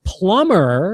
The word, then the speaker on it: plumber: The next one you have is plumber, and you do not pronounce the B. It's Plumber, but it's pronounced with the B is silent.